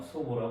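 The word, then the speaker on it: 祖母: 할머니요 할머니 할머니는 어 소보라 합니다 소보 말요 조모를 어 읽을 때 소보로 조모를 소보라 읽은 거예요 소보 이건 조부를 소라고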